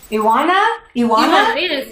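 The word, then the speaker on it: Ioana: Okay, and is your name pronounced Iona? I come from Romania. It's a little bit difficult, Iona, because... Iwana? Yes, like this.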